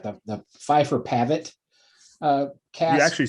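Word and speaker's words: Phifer Pavitt: The Pfeiffer Pavitt cast.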